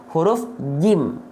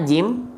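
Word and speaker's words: جيم: Kesalahan yang sering kali terjadi ketika kita melafalkan huruf jim adalah membacanya dengan apa? Bocor becek. Bang, apanya yang bocor becek? Yang bocor becek adalah nafasnya. Ya, ini tetot nih, nggak boleh. Ya, oke, tetot, salah atau tak sempurna.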